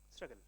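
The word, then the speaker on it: Shragal: Pronounce it. S-H-R-A-G-A-L. Struggle.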